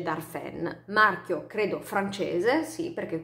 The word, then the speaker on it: Darphin: aggio del marchio darphin si scrive darphin ma si legge dalle fan marchio credo francese sì